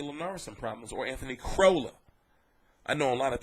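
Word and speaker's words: Crolla: pronouncing it right but it's crow like c r o w l l CA not Cora like Toyota I understand so keep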